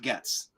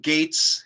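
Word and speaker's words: Gaetz: they are pushing it Matt Gates or is it Gates or gets Blake Gates one million percent Gates not gets yeah that's I've always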